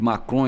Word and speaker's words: Macron: da Europa, né, de Macron e companhia limitada, de querer levar lá a madeira nossa para fazer os pisos. Cuidado com a pronúncia, porque você falou Macron, quis falar Macron, mas saiu quase maconha.